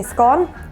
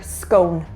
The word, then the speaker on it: scone: But for me, I say scone to rhyme with gone. But in other parts, you will hear scone. that rhymes with cone.